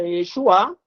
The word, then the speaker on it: Yeshua: pelo próprio Moisés então o nome Josué no hebraico tem essa pronúncia Yeshua que significa salva e